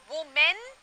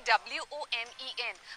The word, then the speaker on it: women: एक औरत woman, बहुत सी औरतें womans, women, actually W-O-M-E-N, but the pronunciation is women.